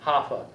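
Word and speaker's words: HAFA: believe it or not it's spelled h-a-f-a hoffa the home affordable foreclosure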